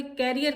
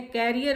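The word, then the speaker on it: career: Then come, अरे भाई कैरियर का टाइम है, कैरियर बनाना है, करियर कहते हैं। No, this is wrong pronunciation, this is called करियर, करियर, करियर। क्या कहते हैं? करियर। तो ये इसका सही प्रोनाउंसिएशन।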